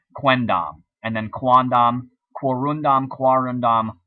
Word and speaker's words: quendam: pronounce and sounds good, trying to say quem dam takes too long. It was too hard for the Romans to say, so they shortened the M to an N, quendam, and then quandam, quorundam, quarundam, quorundam.